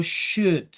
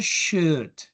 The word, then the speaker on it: should: Luego tenemos a nuestro amigo should. Aquí cuando lo vamos a pronunciar, no pronunciamos la L, no decimos should, sino should.